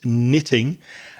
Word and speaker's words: knitting: Notice that the K at the beginning there is silent. We don't pronounce it. It's knitting.